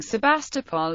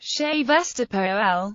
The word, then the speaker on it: Sevastopol: The current prevalent speaking of the name is Sevastopol. The previously common-speaking Sebastopol is still used by some publications such as The Economist.